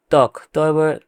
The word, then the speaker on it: ত্বক: ত্বক, তয় বয় ক ত্বক, কিন্তু উচ্চারণের সময় হবে তয় কয় ত্বক।